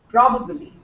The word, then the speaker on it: probably: probabbly it's probably probably the word is pro and the stress is on Pro okay not on bad probably and this one Federal